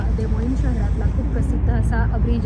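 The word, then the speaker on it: Des Moines: देमोईन असं पडलेलं आहे डी एस एम ओ आय एन इ एस असं याचं स्पेलिंग आहे त्यामुळे ते वाचताना कन्फ्युजन होऊ शकतं त्यासाठी मी तर आधीच गुगल वर उच्चार चेक केला की काय याचा उच्चार आहे तर याचा फ्रेंच भाषेत देमोईन असाच उच्चार आहे खूप ऐतिहासिक परंपरा असलेलं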